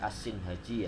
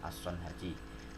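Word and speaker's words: الصنهاجي: Syekh Ibnu Ajurum adalah Abu Abdillah Muhammad bin Daud As-Sinhaji, dengan mengkasrahkan huruf shad jadi As-Sinhaji, ya, bukan As-Son Haji.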